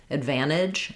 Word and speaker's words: advantage: Advantage or advantage. Yeah. So that was a great observation. You notice that you're not hearing those D sounds. It's because an it's an unreleased D.